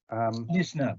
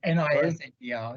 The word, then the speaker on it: Nisner: Nisner, by the way, N-I-S-N-E-R. Just pretend the S is a Z. It's easy to pronounce then. Nisner.